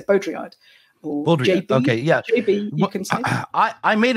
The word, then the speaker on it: Baudrillard: stuff around that name I think you could just say beaudryard okay yeah I I